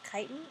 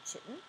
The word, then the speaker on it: chitin: is cellulose and chitin this pronounced chitin and not chicken and these now are